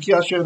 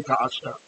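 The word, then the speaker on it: כַּאֲשֶׁר: For some reason, instead of Ki Asher, they'd say Ka Asher.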